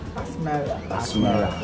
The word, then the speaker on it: Asmara: What's the correct pronunciation of the name? Asmara. Okay. It's Ethiopian language.